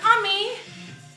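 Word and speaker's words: Omi: An ummi, I spell it O-M-I.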